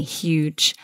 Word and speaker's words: huge: a huge statue exactly huge the thing to watch out for here is that we must pronounce that H so huge not huge